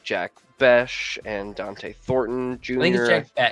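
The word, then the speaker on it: Bech: rotation of like Jack Bes and Dante Thornton. Junior, I think it's Jack Beck. I think it's Beck. It's spelled ch, but it's like Zack with a ch.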